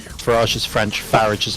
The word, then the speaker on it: Farage: Also, you want to call it Farage, not Farage. Farage is French. Farage is how you correctly pronounce it.